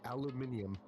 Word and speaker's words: aluminium: It's aluminum. Or if you're British, aluminium.